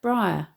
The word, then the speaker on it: briar: note that the word briar although it's strictly speaking comprising two syllables bry and r should be treated as one syllable i.e as though it rhymes with the word fire bronty's diction is plain